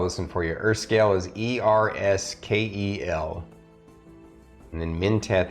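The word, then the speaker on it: Erskel: I'm going to spell this one for you Earth scale is e-r-s-k-e-l and then minteth is m-i-n-t-h-e-t-h basically that one of the H's is silent they're minteth and he is also a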